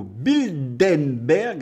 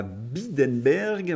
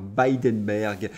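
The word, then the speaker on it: Bilderberg: de trois commissaires au bindenberg alors certains me reprochent ma prononciation on dit pas bidenberg oui mais moi j'aime bien dire bidenberg 2023 soulève des questions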